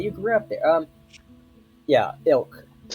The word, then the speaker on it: Ylk: Yeah, Ilk. Ilk. Yeah, the Y is silent.